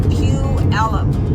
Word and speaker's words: Puyallup: be staying where I've got an apartment is Pew Alum which is which is why a-l-l-u-p and I